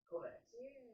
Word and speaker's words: Kovacs: Kovacs.